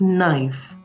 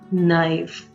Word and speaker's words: knife: brought for you is knife the K is completely silent now can you pronounce it with me knife you can't say knife the right way it is knife so how can you